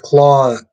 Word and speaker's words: Claude: Just Claude. Oh, Claude. The E is silent.